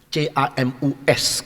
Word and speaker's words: Camus: yang bernama Albrecht Camus, C-A-M-U-S. Kalau tulis bacanya Prancis tidak ada S-nya.